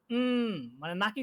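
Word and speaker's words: みんな: নয়ের মতো উচ্চারণ হবে, আর কখনো হবে এই মানে নাকি সুরে ন এই নাকি সুরে উচ্চারণটা হবে।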